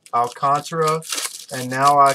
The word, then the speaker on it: Alcantara: Alcantara, is it, money man? That's how you pronounce it.